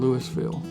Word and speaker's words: Louisville: I'm from a little town in Mississippi called Louisville. It's called Louisville because we pronounce our S's down there.